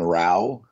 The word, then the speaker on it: Rau: So basically the long and short is this former Marine, Dan Rau, R-A-U is how you say it, or that's how you spell his last name, messaged a entrepreneur named Diana.